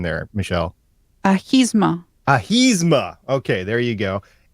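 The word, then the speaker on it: Ahimsa: Supergirl had their 4th episode of the 4th season called Asthma, I think. Was it Asthma? Help me out with the pronunciation there, Michelle. Ahisma.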